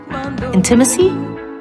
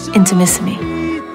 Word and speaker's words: Intimissimi: bit challenging to pronounce intimacy inter enter Missy into Mississippi laughs it's intimacy